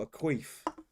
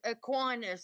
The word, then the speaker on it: Aquinas: what, a queef. South Park. No, it's Aquinas is how it's pronounced.